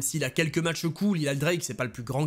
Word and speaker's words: Eli Drake: Alors qu'il a popularisé ses catchphrases et son personnage, et que désormais son nom ne se prononce plus Eli Drake mais bien Eli Drake, il obtient une nouvelle